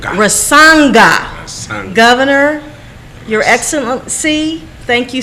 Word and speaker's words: Rasanga: So we have in the studio Governor Rasanja. Am I pronouncing? Rasanga.